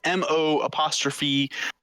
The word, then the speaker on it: Mozus: The campaign is MO'Zus.